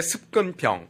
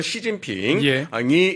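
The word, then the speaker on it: 習近平: 그것이 아 2010년대 들어서 중국의 습근평 중국집 발음으로 시진핑이 집권하면서 노골화 된 겁니다 어떻게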